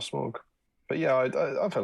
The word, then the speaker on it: Smaug: says nathan uh mitch says did anyone else pronounce it as smorg until they saw the films and heard them as smog i think i think a lot of people